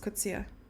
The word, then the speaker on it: Kutsia: How do you pronounce the surname Kutsia? Kutsia? Kutsia? Kutsia. No, just Kutsia.